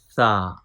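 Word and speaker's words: ث: Our next letter is sa, sa, sa. Please don't pronounce sa with whistle sound, but without whistle sound.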